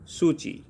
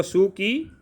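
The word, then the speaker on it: Suu Kyi: Leader थी आंग सान सूची। ये म्यांमारी लैंग्वेज में इसको सू की, इसको हम प्रोनाउंस करेंगे सू ची।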